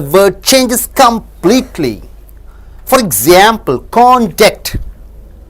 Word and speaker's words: conduct: If you stress on con and stress less on duct, it means the character. See, contact. You stress on con, less stress on duct, you get character. Conduct. So first syllable is stressed.